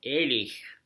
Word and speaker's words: Ehrlich: But my father's family, and from the last name Ehrlich, or Ehrlich, as it's pronounced in Germany, which means honest or integrity in German, my father's family actually were the high-ranking Germans.